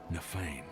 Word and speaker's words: Nafain: Only it's spelled Nafain. Like a misspelling of, like, feigning interest.